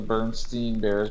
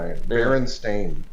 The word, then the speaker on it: Berenstain: Oh no, Berenstain. That's not how I remember it. I remember it was BER. Like, how do you pronounce it? It was the way you pronounce it. Bernstein Bears. Yeah, I remember the Bernstein Bears, but it was like Bearstein or something. It's BERENSTAIN, which is the craziest spelling I've ever seen.